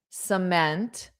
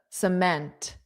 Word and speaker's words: cement: I have to move the cement. So notice, well, everyone did great because a lot of people got that word. But notice just the syllable stress is on the second syllable. Meant. Cement.